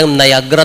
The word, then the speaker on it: Niagara: kitaan dayta Niagara Falls kunana Niagara kunada Niagara ti usto nga pronunciation na tadi falls nga